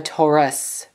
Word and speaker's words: Taurus: A Taurus, not Os, like it's spelled with Pokemon.